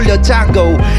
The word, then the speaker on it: Django: so they call me django d is silent, no eye ear chil